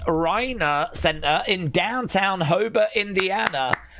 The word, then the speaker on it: Reina: Daze, I went to the Maria Reina, pronounced Reina Center in downtown Hobart, Indiana, to see ARW Pro this Saturday.